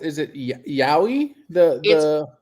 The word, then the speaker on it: yowie: rocky place abolish the senate is trying it's pronounced is it yowie the the y-o-w-i-e is yowie yeah google it you'll find it yeah yowie